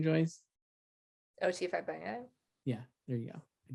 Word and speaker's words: Fagbenle: O.T. Fagbenle.